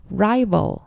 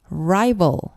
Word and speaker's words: rival: 적수는 뜻인데요 rival rival 우리 한국말로 많이 쓰죠 라벌 한국의 리과 다릅니다 L이 아니고요 all 발음인데이 발음이 상당히 좀 어렵습니다 혀 끝을이가 있는 쪽이 아니고요 혀의 뿌리가 있는 쪽으로 약간 말아서 굵은 소리로 내세요 R rival rival네 세 번째